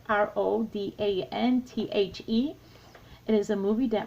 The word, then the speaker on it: Rodanthe: Now this one, today it's Nights in Rodanthe. Is that how you say it? It's Rodanthe.